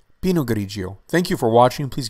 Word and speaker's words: Pinot Grigio: The pronunciation of this wine grape is Pinot Grigio, Pinot Grigio, Pinot Grigio.